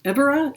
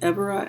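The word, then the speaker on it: Évora: Whimsy I am at the I'm in Aurora evera is that how you pronounce it Evra Evra so I'm in um yeah I'm in evora about an hour and a half from Lisbon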